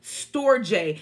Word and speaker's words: storge: Then there's the storge love, storge, and that's spelled S-T-O-R-G-E.